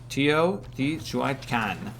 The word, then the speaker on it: Teotihuacan: Teotihuacan. Okay, that's how you pronounce that.